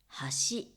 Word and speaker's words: 橋: ていました箸という言葉は橋ブリッジと同じ発音ですねアクセントは違うんですが橋橋これ文字で見